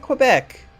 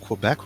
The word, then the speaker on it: Quebec: why does he hate Quebec because he's playing a video game I hold a corner also I pronounced Quebec wrong it's Quebec hmm but only if you're in Quebec otherwise it's Quebec it's like where I